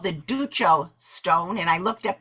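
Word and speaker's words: Duccio: vying for the commission of what's called the ducho stone and i looked up the pronunciation of that ducho d-u-c-c-i-o it was a stone that had been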